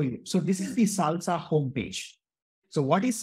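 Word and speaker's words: SLSA: out a mechanism called Salsa this is pronounced as salsa but it stands for supply chain levels for software artifacts now you can take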